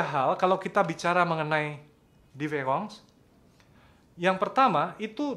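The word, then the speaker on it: différance: derida ya Diong Ya tapi diverong ini diucapkannya sama dengan kalau a ini e gitu ya sama diucapkan dan anda tidak bisa menemukan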